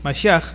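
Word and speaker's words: משיח: Bueno, esta palabra Mesías viene del hebreo masiaj, ¿okay? La pronunción es más o menos así, masj.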